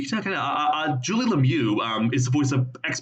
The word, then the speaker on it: Lemieux: Her last name is pronounced Lemieux. It's French. It's not Lumix. I know it ends with an X, but it's Lemieux.